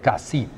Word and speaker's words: Cassis: This lovely spot is called Cassis, and they pronounce the S. Officially, they should not. It is really Cassis.